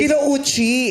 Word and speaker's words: Kinouchi: Bakit Kinuchi yung apelido mo? Kasi Spanish sila. Anong Spanish Kinuchi? Totoo ba? Japanese. Kinouchi. Hindi nga. Tama ba ang bigkas namin?